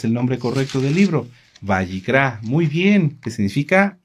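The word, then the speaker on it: Vayikra: Bayicrá.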